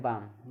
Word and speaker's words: balm: BALM बाम, यानी कि एम से पहले एल आगे साइलेंट है फार्म, ठीक।